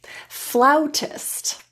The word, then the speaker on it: flautist: Let's practice a few words where the A is pronounced as ow. Flautist, schnauzer, sauerkraut.